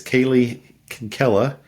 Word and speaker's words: Kaylee Kinkela: am and my guest today is Kaylee Kinkela did I pronounce that right you did okay Kaylee so